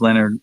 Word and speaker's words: Lynyrd: Lynyrd Skynyrd album pronounced Tejas gotcha instead of pronounced Leonard lienarde however they did it I've got that